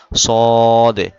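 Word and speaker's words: ص: নুক্তা নাই এজন্য সিন তিন নুক্তা থাকলে এটাশিন সদে দ অনেকে সোয়াদ বলে দোয়াদ বলে তো সয়াদ দোয়াদ না সদে দ এভাবে বলতে হবে সদে দ।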